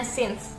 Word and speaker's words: since: Banyak orang mengira bahwa since, ini terutama yang pemula, sejak, since itu dibacanya since, tetapi banyak yang tidak tahu dan membacanya science.